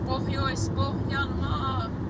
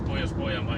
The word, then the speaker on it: Pohjois-Pohjanmaa: We will be in out of central Finland into Pohjois-Pohjanmaa. In English, you apparently say Pohjois-Pohjanmaa. North Ostrobothnia. But if you pronounce Pohjois-Pohjanmaa in English kind, it's like Pohjois-Pohjanmaa apparently. Oh yeah, Pohjois-Pohjanmaa. It sounds like pajamas.